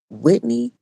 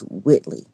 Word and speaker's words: Whitley: Is it Whitney Oh, no, no, it's Whitley.